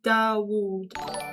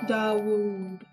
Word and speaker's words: Dawood: We don't say David, we say Dawood. Dawood.